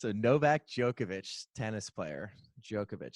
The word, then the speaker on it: Djokovic: this is we started out hot alright Novak Djokovic spelled Djokovic um J okay i yeah Yogesh wait it's a Novak Djokovic tennis player Djokovic spell it okay is it